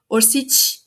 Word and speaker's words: Orsic: A pronúncia é orcite. Ou também Maria Orci, sem o c no final. Mas esse c final sem nada tem o som de ti. Por isso que é orcit, tá?